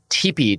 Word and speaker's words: TIPI: really excited to learn a little bit about TP today tii is that how I pronounce it yes it is yes TP it's